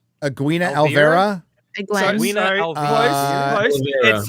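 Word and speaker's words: Alvere: Egwene Alvera. Egwene Alvera. Egwene. Edwina Alvira. Close. It's supposed to be Egwene Alvir.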